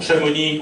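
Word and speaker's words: Chamonix: plusieurs façons de l'écrire comme pour chamonie on ne prononce jamais le X alors dessert partout alors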